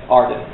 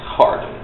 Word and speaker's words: Harden: If you don't pronounce it, it's Arden. Yeah. If you pronounce it, it's Harden.